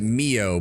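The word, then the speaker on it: MIIO: To make matters worse, the MI see they pronounce it Mio, but my brain keeps seeing it as MI10 like the British intelligence service, but whatever.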